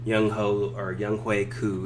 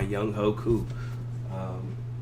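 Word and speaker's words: Younghoe Koo: Young Hui Koo is how it's actually pronounced, but you know everyone pronounce it my Young Ho Koo.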